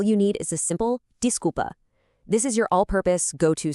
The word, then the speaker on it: desculpa: For that, all you need is a simple desca. This is your allpurpose go-to. Sorry. It's pronounced desca.